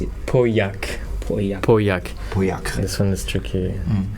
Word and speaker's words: Pauillac: One more, can you teach us how to pronounce it? Pauillac.